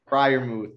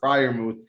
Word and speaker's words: Freiermuth: I don't even how do you pronounce that name, Mangone? Freiermuth. Fryermuth, excuse me.